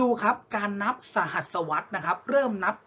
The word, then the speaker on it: สหัสวรรษ: อ่าน ท่อง กัน นัก เรียน สหัสวรรษ อ่าน ว่า สหัสวรรษ นะ ครับ หมาย ถึง ช่วง เวลา กี่ ปี